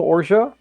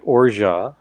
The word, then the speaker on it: orgeat: And if you don't hear someone pronouncing it orgeat, but pronouncing it orgeat, orgeat, orgeat, anything, orgeat, anything along those lines, this is what they're talking about.